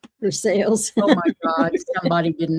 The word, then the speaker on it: Versailles: There is a Versailles in Kentucky, but it's pronounced Versailles. Versailles. Oh my god. Somebody didn't know how to pronounce. No, they didn't know how to say sales.